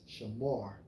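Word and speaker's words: שָׁמַר: The Strong's H8104 pronounced as shamar, which means to keep, guard, observe, have charge of.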